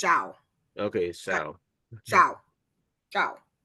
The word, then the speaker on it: Xiao: the name Xiao Xiao it's Shia c x i a o is pronounced Shia okay Shia Shia xia